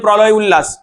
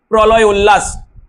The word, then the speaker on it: প্রলয়োল্লাস: অনেকে বলে প্রলয় উল্লাস, এটা মোটেও নয়, প্রলয় উল্লাস হয়েছে।